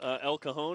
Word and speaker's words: El Cajon: El Cajon, is that how you say it?